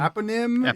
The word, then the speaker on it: eponym: Eponym.